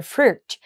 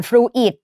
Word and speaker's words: fruit: เรา จะ อ่าน ว่า Fruit หลาย คน อ่าน fru it ไม่ เอา นะ ลูก ไม่ อ่าน Fruit อิ นะ อ่าน เป็น Fruit Fruit นะ คะ เหมือน Fruit เงี้ย